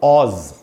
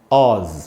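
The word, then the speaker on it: Oz: ये दोस्तों ओ और जेड एक साथ लिखे हुए, इसको पढ़ेंगे कैसे, इसका प्रोनाउंसिएशन है दोस्तों ऑज, ऑज ऐसे करके पढ़ेंगे। इसकी मीनिंग क्या होती है,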